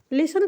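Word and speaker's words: listen: टू एम ई मी तो लिसन को हम लिसन पढ़ रहे हैं टी तो हम पढ़ ही नहीं रहे हैं टी इसलिए नहीं पढ़ना है क्योंकि यहां पे साइलेंट है ठीक है एल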